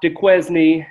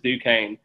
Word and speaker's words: Duquesne: It is not Duquesne. It is not any of these other pronunciations that people keep talking about. It is Duquesne.